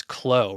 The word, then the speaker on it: Clow: And like normal, I am having such a hard time pronouncing simple names, actually. So, Sarah, you're here, and your last name is Clow, right?